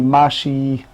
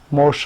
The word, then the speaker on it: Moshe: Many of my non-Jewish students call me Mashi, Moshe, all kind of ideas, because they have issue of pronunciation, M-O-S-H-E.